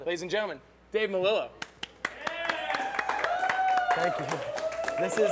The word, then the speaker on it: Melillo: I usually get Melillo because we're down here. And, you know, two L's are J in Spanish.